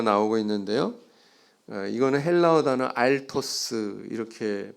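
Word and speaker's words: ἄρτος: 이거는 헬라어 단어 알토스 이렇게 발음을 합니다.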